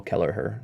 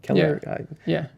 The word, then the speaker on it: Kelleher: those threads for April Kelleher. Keller? Am I? Keller? Keller? Yeah. Kelleher? I don't think we're pronouncing the H. Oh, really? Is it a soft The H is silent, like Amish?